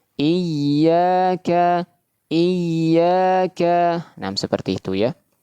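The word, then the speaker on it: إِيَّاكَ: Karena huruf ya termasuk huruf yang sifatnya rakhawah, mengalirkan suara. Ya, kalau kita baca iyaka, maka di sini suaranya tertahan. Maka ini keliru, ya. Kalau kita baca iyaka maka di sini suaranya sudah tertahan. Maka ini keliru ya. Yang seharusnya mengeluarkan suara malah tertahan suaranya ya. diberikan tekanan suara nab diberikan akan tetapi suara masih tetap menga mengalir.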